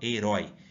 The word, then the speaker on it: herói: e o Johnny e qual que é a sílaba mais forte herói Eu não falo Hero aí que fala herói sendo assim ela é uma oxítona e não uma paroxítona essa regra vale para